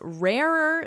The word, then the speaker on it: rarer: It's rarer still. Listen to the pronunciation here.